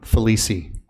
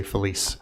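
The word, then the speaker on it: Felice: Felici. Okay. It's not a silent E at the end of my name, my last name. Many people will just say Feliz.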